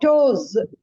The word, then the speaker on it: toes: not like Muse uh it is not s sound it is z sound like toes the z sound is